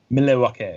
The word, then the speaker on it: Milwaukee: Pronounce Milwaukee, please. Oh, Thank you. I'm sorry. But no, say that one more time. Milwaukee.